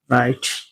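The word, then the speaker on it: write: यदि डब्लू के बाद आर लिखा हो तो डब्लू साइलेंट रहता है। For example W आर ओ एन G wrong W आर आई टी ई राइट यहां डब्ल्यू के बाद आर लिखा है इसीलिए डब्ल्यू साइलेंट है। इसे रॉन्ग पढ़ा गया।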